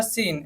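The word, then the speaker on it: scene: का मतलब होता है विज्ञान थर्ड है हमारा सीन एस सी आई एन ए इसको अगर बिना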